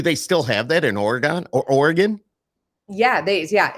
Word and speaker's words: Oregon: have have an oron it's Oregon you say Oregon like you leave out a okay so you leave out a whole syllable and I'm in the Northeast and we say Oregon I think I don't know W and it makes sense because the way it's spelled but the way I like to think about it is like in your body there's organs so that the thing